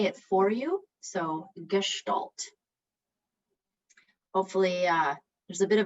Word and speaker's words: gestalt: just going to say it for you so gestalt hopefully uh there's a bit of a in